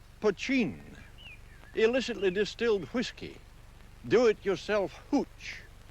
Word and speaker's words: poteen: Mountain Dew is another name for the stuff that's spelt poteen and pronounced pochine.